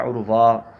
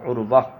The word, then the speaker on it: عروہ: الف لگا دیتے ہیں۔ اس نام میں جو وا آتی ہے نا، را کے بعد، اس وا کے بعد الف لگا دیتے ہیں، عروہ۔ تو یہ تلفظ ٹھیک نہیں ہے، صحیح یہ ہے کہ واو کے بعد ہا، عروہ۔ اور یہ نام درست